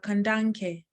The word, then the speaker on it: Kandanke: Yes, you said my name wonderfully. My name is Kandanke.